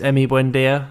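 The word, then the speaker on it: Emi Buendía: i think sorry tom i think he mispronounced his name there it's emmy buendia i'm sorry mate as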